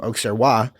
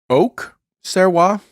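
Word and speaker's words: Auxerrois: is made predominantly from oxaroa which is not one of the um one of the grapes allowable Oak serwa a u x e r r o i s you do you pronounce the X um yeah you pronounce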